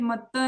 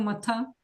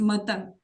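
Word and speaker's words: मत्तः: So can you pronounce it matta instead of matha? मत्था परतरं Not matha. It's not matha. Okay, it's matta.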